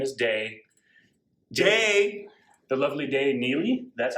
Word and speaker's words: Dey Neele: and her name is day jay the lovely day neely that's how you pronounce it the day neely from the kiachi